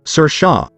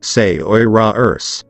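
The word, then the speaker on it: Saoirse: always informing people that her name waslash is pronounced sir Shaw and not says and that's actually a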